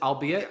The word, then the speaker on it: albeit: I'll be at Wendy is it albeit or is albeit how do you say that word albeit no you did it right you did it you did it right the first time Don't Run Away From